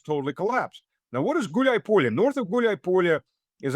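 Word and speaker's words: Гуляйполе: The main fortress being Gulay Polya, which, by the way, it's two words combined to one, Gulay and Polya.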